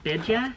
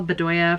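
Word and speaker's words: Bdoya: designed by isabelle biddya that's how you always know somebody's a reader because they don't know how to pronounce anything illuminati cosmetics this is an eyeshadow palette collaboration with isabelle bedea bedoya oh it's b-d-o-y-a it's not b-e-d-d-y-a illuminati cosmetics has collaborated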